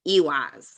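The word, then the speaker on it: ehwaz: EWAS stands for like that sound. I. We don't have a comparable letter in the English language, but it sounds like like EWAS, like your Ewok, like Star Wars character.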